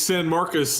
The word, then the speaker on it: San Marcos: and you're going to San Marcos on Thursday night to play a very quality Texas State Lev do it correct him level how do you pronounce it it's San Marcus and this is the